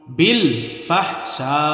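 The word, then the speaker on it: بالفحشاء: ওয়ায়ামুরুকুম বিল ফাহশা, বিল ফাহশা, ফাহশা, শা এক আলিফ টান হবে, 4 আলিফ টান হবে।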